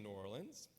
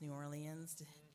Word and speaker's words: New Orleans: New Orleans you know there's a lot of different defin ways to pronounce New Orleans but what I've discovered is folks here say New Orleans and I used to say New Orleans some of you say New Orleans but you'll upset locals if you say it